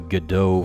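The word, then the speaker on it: Godot: of it I think why am I even calling it gdau I hate that I hate that pronunciation the freaking French pronunciation we're going to call it God dot because that's the way it's freaking spelled freaking French spell your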